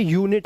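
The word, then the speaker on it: unit: यह अनट नहीं है। अब जैसे अंब्रेला था अभी अब ये यूनिट है क्योंकि एक कंसोनेंट के बाद फिर वोवेल आया हुआ है।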